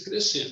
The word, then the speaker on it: crescer: O Instituto Crescer, a pausa, ela é intencional porque eu faço uma jogada com a pronúncia da palavra crescer, de crescimento, né? Mas se escreve cre e depois engole-se a letra C, né? E crescer, né?